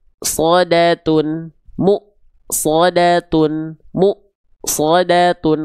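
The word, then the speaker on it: مؤصدة: M shodatun mu shodatun mu shodat Kenapa munya tertahan? Karena mynya berjumpa dengan hamzah sukun. Kenapa enggak dibaca musodatun atau misalnya dibaca musodatun? Enggak bisa. Karena muyya bertemu dengan hamzah sukun maka mya pasti agak ngerem dulu ya.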